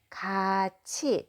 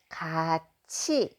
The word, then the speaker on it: 같이: Notice that I'm pronouncing it 가, just like that with a final consonant. And then not this t, but ch pronunciation. 같이 is how you pronounce together.